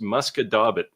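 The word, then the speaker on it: Musquodoboit: So, you know, and I know your wife is French Canadian, Rick, but this would be pronounced Muscadabit. Your wife would probably say something like Muscat de Bois, except it's a T, not an S at the end.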